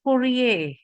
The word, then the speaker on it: courier: Nah, this one is pronounced courier, bukan courier. R-nya yang belakang tidak dibaca karena ini loan words dari bahasa Prancis ya, kata pinjaman. Jadi we pronounce it courier.